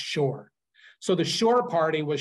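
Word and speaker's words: Șor: that was called the shore party spelled s o but pronounced Shore so the shore party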